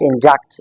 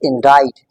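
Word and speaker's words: indict: It's not induct, it's indite.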